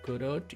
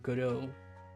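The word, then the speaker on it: Godot: It's not pronounced gurot. It's pronounced guru.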